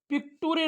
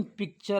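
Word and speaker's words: picture: वाचायला आपल्यासाठी सोपे होतील तर पहिला शब्द हा पिकुरे नसून पिक्चर आहे काय आहे पिक्चर दुसरा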